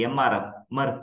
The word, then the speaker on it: MRF: program material recovery facility mrf you can pronounce it as a Murph it's a centralized facility